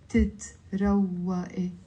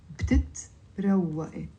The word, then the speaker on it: بتتروقي: of كرمال بتتروقي بتتروقي it's 4 syllables it's not بتتروقي it's بتتروقي بتتروقي you have breakfast